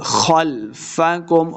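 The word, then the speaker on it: خلفكم: لمع کیا، وما خلفکم، خلفکم، خا کو موٹا پڑھیں گے، خلفکم لعلکم ترحمون، واو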